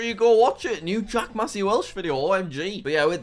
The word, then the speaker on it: Jack Massey Welsh: he sent me name and everything and he pronounced it correctly Mr Jack Massey Welsh how far I've come from copying his Minecraft